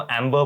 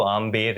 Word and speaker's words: आमेर: tourism के वजह से अंग्रेज आके उसको एंबर बोलने लग गए च इज the name of the stone तो एंबर नहीं वो आमेर है तो दो ए होने